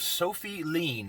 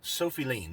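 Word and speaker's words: Sofi Lien: The name of the channel is Sophie Lean, S-O-F-I, and then L-I-E-N, I believe is how it's spelled. I'll have a link in the description for it. Sophie Lean.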